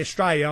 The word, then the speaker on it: Straya: That's if you come to Australia, you must, if you want to fit in, you must pronounce the name of Australia properly, and that is Straya.